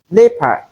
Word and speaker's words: leopard: Most times, people mispronounce these words as leopard, Leonard, Jeopardy, and Geoffrey. It is not Joe, but we have the sound in place of the EO.